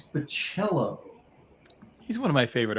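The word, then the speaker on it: Bachalo: What are the It's not Bello. You've got like one job, Gary, and you're just horrible at it. It's bachelism. Yeah, it's Bachello.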